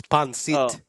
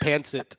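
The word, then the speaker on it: pancit: And Rudy said it wrong, too. It's pan-seat. Oh, okay. I'm from Texas. It's pan-seat. Rudy called it pan-sit.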